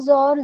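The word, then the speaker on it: XOR: वन जर वन जीरो जर जीरो इसको जर ऐसे प्रोनाउंस करते हैं जर ऑपरेटर तो अगर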